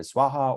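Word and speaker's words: svāhā: Tutare Ture Swaha, or Om Tare Tutare Ture Soha, as it's commonly pronounced by Tibetans, is the green Tara mantra. That's actually incorrect, technically speaking. Colloquially speaking, we can say that, but technically speaking, not so much.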